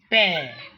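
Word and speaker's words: père: It's not mere as some people used to pronounce it mere and pere. No, it's mare, pear, mare, mother, frère, brother, frère.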